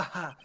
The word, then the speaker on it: ja: Ha ha. Actually, I guess he's Spanish. Ja ja ja. No, It almost no, does- no. Back it up. They would still say ha. Jaw is pronounced ha.